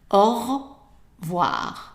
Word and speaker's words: au revoir: So this E here is dropped, and you will hear just au revoir.